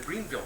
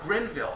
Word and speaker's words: Grenville: metamorphism in the green in the Greenville belt so what Granville oh Grenville I'm sorry thanks mispronounced it so uh so